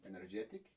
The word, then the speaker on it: energetic: sufijo para convertirlo en energetic, entonces el estrés se mueve hacia la derecha, directamente hacia donde está el sufijo.